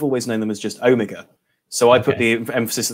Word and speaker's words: Omega: Well, I'm a heathen here in the Western United States, so I say Omega instead of Omega.